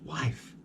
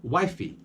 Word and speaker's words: wife: problem we have the word wife wife just wife we're in Portuguese speakers song some speak you'll be wifey wife is interesting because this is a slang